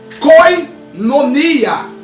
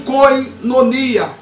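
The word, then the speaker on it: κοινωνία: Irmãos, a palavra comunhão vem do termo do grego que você pronuncia koinonia.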